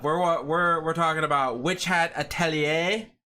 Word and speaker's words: Witch Hat Atelier: We're we're we're talking about witch hatellier which is how it's pronounced. I asked my friend who speaks French.